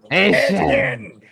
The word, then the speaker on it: Achane: They didn't run it much last The new pronunciation. Yes, not Devon Achane. This is Excuse me. Travis Achane. Yeah, or Achane for those I put it on the ticker. It's I know you have to say it Yeah, yeah, for sure, for sure. Achane. Yes, the Cajun pronunciation, the Cajun French way.